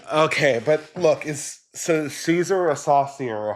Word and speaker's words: Caesar: or a hard sea I'm pretty sure it's a a soft sea yeah but in the original pronunciation it is a hard sea well the Romans would have said Kaiser yeah but you know